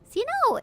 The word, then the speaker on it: Xeno: Xeno is pronounced with a C sound in English.